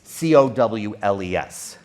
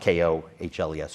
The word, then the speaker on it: Cowles: And it's Cowles, not Kohles or any different pronunciation.